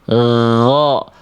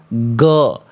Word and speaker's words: غ: Ghro, ghri, ghru, jangan dibaca go, gi, gu, jangan.